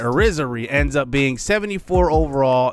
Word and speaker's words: Irizarry: And Tom Irizarry, that's how you say it, Irizarry ends up being 74 overall in C potential.